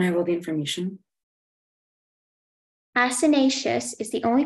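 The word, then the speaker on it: acinaceous: Asinaceous is the only pronunciation.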